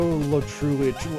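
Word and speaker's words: Lo Truglio: Yeah, Joe Latrulio. It's spelled Joe Latruglio.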